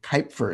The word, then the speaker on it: Cuijpers: There's a meta-analysis, one of the major researchers in the field doing meta-analyses on depression is Pim Kuypers, as I've learned is how you pronounce his name, from the Netherlands.